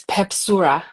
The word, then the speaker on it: Pepsurah: So, how do you pronounce uh your stage name? It's Pepsura.